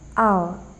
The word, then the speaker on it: hour: H is silent in words like hour.